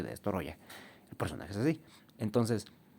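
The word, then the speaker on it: Destoroyah: Que hay gente que le dice Destroya, pero no es Destoroya. Porque no, los japoneses no pueden decir Destroya, entonces dicen Destoroya. Entonces se escribe Destoroya y se dice Destoroya.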